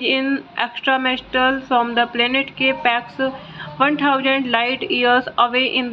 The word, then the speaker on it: K-PAX: After claiming he is in extraterrestrial from the planet K-Pax 1000 light years away in the Lyra constellation, thought not capitalized and pronounced with a long O rhyming with bot, is committed to the Psychiatric Institute of Manhattan.